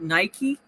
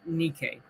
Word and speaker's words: Nike: We pronounce it Nike. This is the Greek word for victory. Nike is the Greek word for victory, but in Greek it's pronounced Nike.